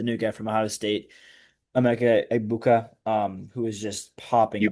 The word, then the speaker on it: Emeka Egbuka: This year, he has the new guy from Ohio State, Emeka Egbuka, who is just popping you off.